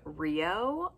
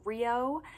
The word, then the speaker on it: Rio: This name means smart and clever, and while this video is all focused on Japanese names, this pronunciation is also the same pronunciation as the Spanish word for river, Rio.